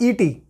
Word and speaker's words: et: And in between these two digits, there is a word like et, which we pronounce a, which we pronounce like a.